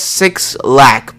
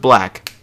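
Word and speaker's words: 6LACK: name is six black it says six lack but it's supposed to be pronounced black like oh my god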